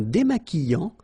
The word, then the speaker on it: démaquillant: So we've got this QU, but then U is not pronounced. So you get the sound qui. Okay, and then remember, double L after E will give you the sound y. Démaquillant. Final T not pronounced.